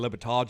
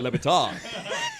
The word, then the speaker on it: Le Batard: Okay, We are the Dan Le Batard Show.